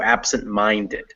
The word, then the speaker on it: absent-minded: stressed but yes but mind is the most stressed and absent is the second one so absent is still stressed but not as much as minded so absent-minded is how that word sounds absent-minded and uh other keys